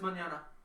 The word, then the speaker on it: Mignogna: No, it's Manana. It's Mignogna. If you meet him, he says Manana.